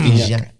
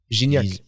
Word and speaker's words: Gignac: Well, no, that's what in Mexico it's Guignac. Gignac. Because it starts with a fucking G.